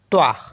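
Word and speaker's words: toi: मी टी ओ आई टी ओ आई पढ़ते त्वा त्वा त्वा मेंस होता है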